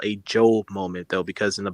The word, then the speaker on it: Job: So that's Job, actually how you pronounce yeah. it, Job. So he had all this lavish stuff.